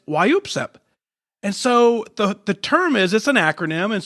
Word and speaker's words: WYOOPSEP: new favorite term and I'm gonna pronounce it for you a couple times why you upset why EWP's up so it's kind of like a sneeze right and it's kind of like an involuntary cough and it's why you